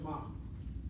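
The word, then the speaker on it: מה: That word ma. Listen to how I'm about to say it. The word ma, no one's pointing is with a pata. The word is at that follows, right?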